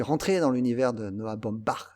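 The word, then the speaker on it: Baumbach: dans l'univers de Noah Bombard je vais le prononcer comme toi l'allemand voilà il a fait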